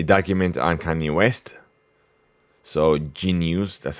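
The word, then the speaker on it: jeen-yuhs: So Genius, that's how it's pronounced.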